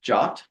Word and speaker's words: JWT: And JWT, I actually looked it up, and JWT is supposed to be pronounced JOT. So that's what I'll call it, a JOT token, JWT, as opposed to JWT or JWT or whatever.